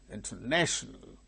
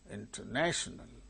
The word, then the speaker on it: international: Say second one, example, international, international, national, 1, 2, 3. Third syllable gains primary stress.